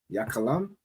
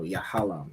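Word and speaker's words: יהלום: The tribe of Ephraim, which is the diamond, which is Yakalam. No, Yahalam. Yahalam.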